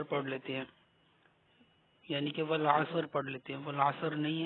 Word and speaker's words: والعصر: چلتے سبق کی طرف۔ بسم اللہ الرحمن الرحیم۔ والعصر، اس کو غور سے سنیے گا۔ والعصر، ٹھیک ہے۔ بعض بھائی جو ہیں وہ صاد پر زبر پڑھ لیتے ہیں، یعنی کہ والعصر پڑھ لیتے ہیں، والعصر نہیں ہے، والعصر۔ ان